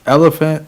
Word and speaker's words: LFANT: above negative thinking and it's elephant like the animal not a fan I